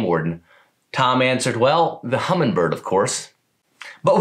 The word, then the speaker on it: Humminbird: tom answered well the humminbird of course but with his southern drawl he could not pronounce the g and so it became known as the hummingbird sometime between 1974 and